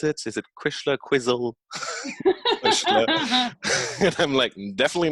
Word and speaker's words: Cuisle: kind of say like oh how do you pronounce it is it Krishna Quizzle definitely not Quizzle on your HP yeah but yeah no it's